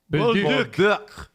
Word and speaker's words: Bolduc: Julian, I asked him to send me how you say it in the French way, the proper way. Let's see if this will come through. Bolduc.